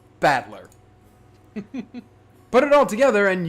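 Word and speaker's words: Battler: the characters for fight and person and it's pronounced batler put it all together and you've got ushi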